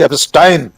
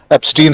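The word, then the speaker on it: Epstein: जिसे वे कह रहे हैं इन फेमस मिस्टर जेफरी एस्टाइन। आपने ठीक कहा उच्चारण। राहुल गांधी ने भी एस्टाइन ही कहा था। हम लोग भारतीय लोग उसको एस्टीन ही कह रहे हैं।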